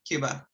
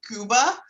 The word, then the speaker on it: Cuba: you say is the best time to visit Cuba? Okay, first of all, wait a minute. Am I pronouncing it correctly? Like, am I pronouncing Cuba correctly? Because like some people, it's like a long O, Cuba.